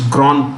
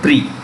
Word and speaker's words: Grand Prix: The winner of the 2021 Formula One Spanish Grand Prix, it's pronounced Grand, it's French actually. Grand, okay, and Prix, the X is silent, Prix is prize, Grand Prize.